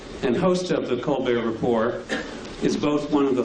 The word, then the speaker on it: Report: frequent guest on the co report but uh or Rapport I guess is the proper pronunciation uh we're delighted that